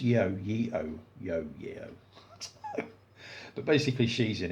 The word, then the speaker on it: Yeoh: Is it pronounced Yeoh?